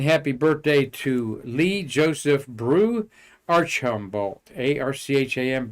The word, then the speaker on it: BRU: His nickname BRU pronounced Brew.